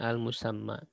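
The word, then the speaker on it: الْمُسَمَّى: Wa huwal musamma, itu dibacanya al-musamma.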